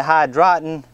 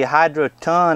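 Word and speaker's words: Hydroton: some of this uh I was calling it hydren it's actually hydron I think the way to pronounce it just call it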